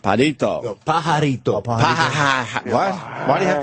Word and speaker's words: pajarito: Birdman, how do you say it? It's pajarito, it's called.